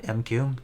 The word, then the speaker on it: M'Quve: that as far as the pette we have mq that's how you pronounce his name um I would say skip